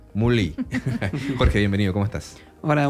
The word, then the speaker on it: Moulis: Se escribe Moulis, pero se pronuncia aparentemente Mully.